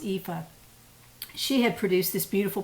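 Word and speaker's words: Aoife: with it i was inspired by marie callan's eepha scarf that's how you pronounce it it's not spelled that way it's spelled a-o-i-f-e but it's pronounced in scotland as or it's irish i'm sorry ifa it's pronounced ifa she had produced this beautiful pattern it was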